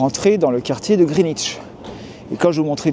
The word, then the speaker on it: Greenwich: Alors tout d'abord, je ne sais pas si vous avez remarqué, mais déjà au niveau de la prononciation du quartier, en tout cas du nom du quartier. Je dis Greenwich Village, pas Greenwich Village, même si j'ai un W.